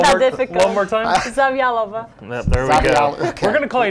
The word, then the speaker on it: Zavjalova: Tell us how you pronounce it, because Mark's had a hard time. It's not that difficult. One more time? Zavjalova.